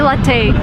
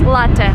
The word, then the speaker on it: latte: And don't say latte. This is like the worst thing I've ever heard. It's latte. Latte is an Italian word. So, if you drink coffee, it's latte, not latte.